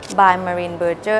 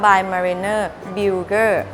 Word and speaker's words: By Malene Birger: ภาษา อังกฤษ นะ คะ เพราะ ว่า จริง ๆ ถ้า เป็น ภาษา เดน จะ ช่าง ค่อน ข้าง ออก เสียง ยาก นิด นึง มัน อ่าน ว่า By Mariner Builger ซึ่ง เอา เรา เอา ง่าย ๆ ละ กัน เป็น ภาษา อังกฤษ คือ By Marine Burger ให้ เพื่อน ๆ ได้